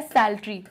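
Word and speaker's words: psaltery: musical instrument होता है सैलरी पी जो है साइलेंट होता है सैलरी में इसलिए हम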